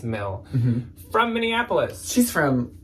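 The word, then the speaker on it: Mille: very high-end expensive brand I don't know if it's pronounced Millie or Mill it's m-i-l-l-e I think it's Mel from Minneapolis she's from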